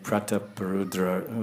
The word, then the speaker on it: Prataparudra: the pleasure of Gajapati Pratap Rudra, the ruler of Orissa. Here it's mentioned as two different words, Pratap Rudra. Very interesting. Usually we say Prataparudra. We usually pronounce it something like Prataparudra, King Prataparudra.